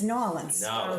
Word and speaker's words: New Orleans: so and and i'm teaching zachary how to say it correctly i mean it's new orleans yeah it's new orleans